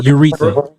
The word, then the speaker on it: urethra: Yeah, urethra.